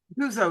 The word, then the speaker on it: Guzzo: Guzzo is correct, but Guzzo. Guzzo is the southern version, but that works.